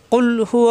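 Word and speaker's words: قُلْ: কুলহু আল্লাহু আহাদ। কুল জিব্বার গোড়া থেকে উচ্চারণ হবে।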